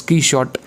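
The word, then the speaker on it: Quichotte: written key short novel which is pronounced as key shot being inspired from don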